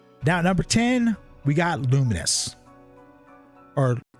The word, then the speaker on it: Lumines: number 10 we got luminous or lumines you know I never really got how it's supposed to be pronounced but I always said lumens lumens is not an